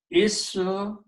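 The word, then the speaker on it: اسم الله: So it becomes, and this alif we do not pronounce in between here, this one. So it becomes a hamzatul wasl. So the final word becomes ismullahi.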